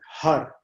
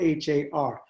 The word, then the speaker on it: Har: Har, Har. And it sounds like a H-U-D. It's spelled H-A-R.